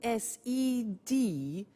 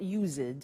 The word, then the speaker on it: used: we use used to look at the spelling s it's it's us Edie and then T ough but the pronunciation is not used it's used unusual used ok so the example is